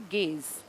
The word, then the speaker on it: gauge: तो ये गेज जो है 3 तरीके से, GAUGE ये स्पेलिंग होती है इसकी, गाउज करके लिखते हैं, गेज बोलते हैं इसको।